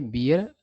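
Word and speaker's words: beer: तो उच्चारण पर ध्यान देना, ये बियर पढ़ा जाता है और ये बेयर पढ़ा जाता है।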